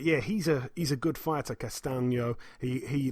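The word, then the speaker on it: Castaño: Patrick Texera, 31-1, defends his WBO World Super Welterweight title against Brian Castano, or Castano, it's actually pronounced. 16-0 with a draw, like I say, Castano.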